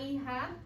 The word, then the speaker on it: hija: hermana, el hijo, la hija. Does that seem like a strange word to you with the J and the H? Yes. Yeah, H is silent, the J sounds like the H.